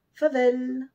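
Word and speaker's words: farvel: simplifiée Dao au revoir favelle F a r V e l le r ici n'est presque pas prononcé donc si vous l'ignorez cela va aussi fa vel pour le Vel ce n'est pas comme E dans l mais plus un e vel favel merci tac t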